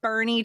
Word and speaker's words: Boerne: So Satie, you are the director of operations at Living Water Chiropractic in Bernie, Texas.